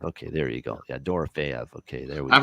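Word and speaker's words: Dorofeyev: dorv maybe F okay there you go yeah dor fev okay there we go I've heard both before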